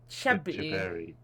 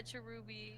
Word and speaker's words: Cherubi: Because it's spelled with a B. Chebby. Yeah, Cherubi.